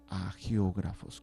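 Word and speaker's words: hagiógrafos: les van a llamar a geógrafos con h y G de gato a geógrafos es una H muda o algunos los dicen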